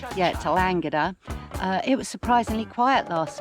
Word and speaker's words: Tallangatta: Yeah, Tallangatta.